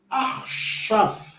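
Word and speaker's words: עכשיו: Se o Raf está com o Shivá, então nós vamos ler esta letra sem o apoio do sinal massorético. Então, somente o som que ela produz. Então, nós iremos ler aqui Arshav. Arshav.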